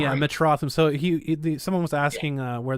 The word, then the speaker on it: Metrotham: But, I'm just glad that it's Metrotham, right? Am I saying it right? Yeah, Metrotham.